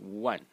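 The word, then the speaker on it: 万: Chinese have a word for 10,000, and it's pronounced one. One. In the fourth tone.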